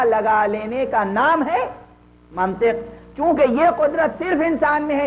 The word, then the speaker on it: منطق: تھا کہ منطق سے لفظ منطق ہے عزیزوں، منطق نہیں ہے۔ یہ بھی عرض کر دوں، یہ محلی لہجے ہیں، بہت سے لوگ منطق توئے کے زبر کے ساتھ استعمال کرتے ہیں، یہ غلط ہے۔ منطق ہے، علم منطق